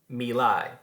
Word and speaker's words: My Lai: had taken place in the Vietnamese village of My Lai, that is how that's pronounced, in which American soldiers had murdered somewhere between 300 and 500 Vietnamese women and children.